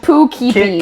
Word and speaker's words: Poughkeepsie: They said Poughkeepsie. Why are they keepy the poo? Why are they That keepy is they so poo? stupid. That's how you say it though. Poughkeepsie. Poughkeepsie.